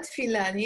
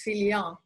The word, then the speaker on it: Filian: It's not Filani, it's Filian. Filian. If you want to sound French in Lebanon, they say Filian, but if you want to pronounce it the Armenian way, it's Filian.